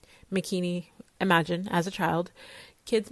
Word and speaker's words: Makini: heard wrong I say my name is makini rhymes with bikini but within it one